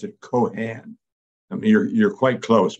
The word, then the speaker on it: Keohane: but I pronounce it Keohane. I mean, you're quite close, much closer than most people are. But I pronounce it Keohane as if there were no E's at all.